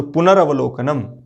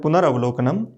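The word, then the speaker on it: पुनरवलोकनम्: यहाँ रही होगा, तो पुनरवलोकनम। कई बार हम उच्चारण में गलत करते रहते हैं, पुनरावलोकन बोलते रहते हैं, तो ये सही शुद्ध शब्द है पुनरवलोकनम।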